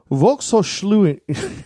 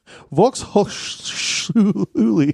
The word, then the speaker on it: Volkshochschule: one that I'm going to be good at pronouncing, but I'm just going to throw it out there. Well, that's a first. Volkshochschule. Right. Volkshochschule.